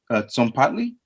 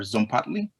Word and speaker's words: Tzompantli: Yeah, so like the T is kind of silent, so it's like it's a Tzompantli or Tzompantli.